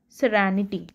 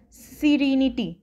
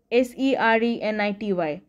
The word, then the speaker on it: serenity: me okay let me first tell you the pronunciation of the underlined Ward that is serenity many of you miss many of you can mispronounce this word as serenity s-e-r-e-n-i-t-y but no this is not the right for